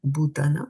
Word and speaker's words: bhūtānām: Try to say bhūtānām, right? The H. Try to pronounce the H here also. Bhū and not bhūtānām.